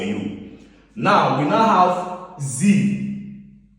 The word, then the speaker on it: sie: Now, we now have sie. In German, S is pronounced as Z. When you see a vowel in front of it like this, it becomes what? Z in pronunciation.